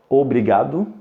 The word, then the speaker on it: obrigado: que je l'aime beaucoup on prononce obligable OK obligable et ça veut dire merci OK et la règle de prononciation ici c'est il faut il faut faire attention à la lettre R à la fin de mot parce que comme j'ai